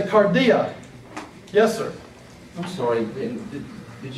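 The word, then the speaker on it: καρδία: Look at cardia. You don't say cardia. You don't say cardia. You say cardia.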